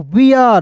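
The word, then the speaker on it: bear: के रूप में फियर बी ई आर को वियर यानी कि अर के रूप में उच्चारण करना है दोस्तों क्लियर है जी तो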